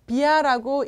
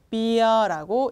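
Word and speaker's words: bia: 자 비아라고 읽지 마시고 비어라고 읽어 주세요.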